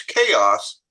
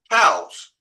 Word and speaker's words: chaos: And he says US politics is in a state of chaos, but he can't quite pronounce chaos. And he says cows.